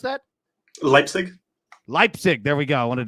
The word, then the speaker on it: Leipzig: SC Freiburg, and how do you pronounce that? Leipzig.